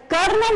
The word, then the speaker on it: colonel: कर्नल बोलने में कर्नल है, लेकिन जिसकी स्पेलिंग प्रोनाउंसिएट होती है वो कोलोनल से होती है, COLONEL।